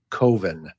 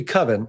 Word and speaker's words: Coven: movie forever that's called koven but it should be coven because that's how it's pronounced but he doesn't like the way coven sounds like oven man he so he